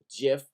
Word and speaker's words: GIF: save for web now jiff is already selected this is a dot gif file okay you spell it gif but it is pronounced jiff like the but ER